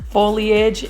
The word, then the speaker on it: foliage: it is foliage thank you for correcting my pronunciation foliage and we have another sodium confetti right over